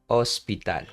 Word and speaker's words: hospital: In Spanish, we never pronounce this consonant, DH. Never, okay? So it's like we would say like something like this. El hospital. Okay, so keep that in mind. Okay, this is a common mistake. I have seen these mistakes many times. Okay, we say el hospital.